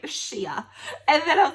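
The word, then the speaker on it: Shea: Shia. And then I was like, oh, it's Shay.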